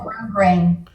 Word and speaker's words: grosgrain: I think it's called grosgrain. Grosgrain? No S, Oh, yeah. There's an S, but you don't pronounce it.